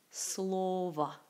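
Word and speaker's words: слова: c'est travail 8e slova slova on le prononce comme SL va donc c'est la la dernière o se prononce comme a et si vous ne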